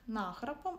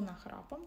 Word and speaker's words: нахрапом: У нас тут наявний прислівник нахрапом або нахрапом, там подвійний наголос, що означає нахабство, точніше навіть нахабно, зухвало, так, щось робити.